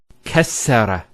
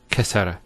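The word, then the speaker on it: كسّر: Kassara instead of kasara. So once again, there's the kaf, followed by 2 scenes, and then the ra. So kas, skune, sara. Kassara, not kasara.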